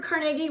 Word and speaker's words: Carnegie: want to say Andrew Carnegie was a part of the story, which I live in Pittsburgh. That's the correct way to say, it's not Carnegie, it's Carnegie.